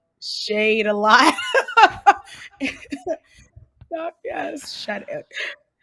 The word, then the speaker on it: Shadé: What's going on, Shade? Welcome to the Happy Entrepreneur Show. Hey, I just wanted to say it's pronounced Shadé. It's Dr. Shadé. Shadé. Oh, gosh. I keep saying Shade.